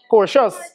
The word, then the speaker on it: Cortez: Cortez, I'm pronouncing the name correct? Cortez? Cortez.